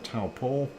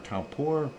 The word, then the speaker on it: Taupo: going to erupt but that is a taupo or taupo depending on how you say it and let's go to